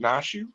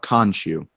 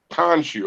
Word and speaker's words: Khonshu: How you pronounce? Is it Nashu? Wow, that yes, Avatar of Khonshu. Khonshu.